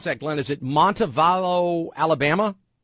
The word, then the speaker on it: Montevallo: Let's go to Glenn in, how do you pronounce that, Glenn? Is it Montevallo, Alabama? Montevallo, yes.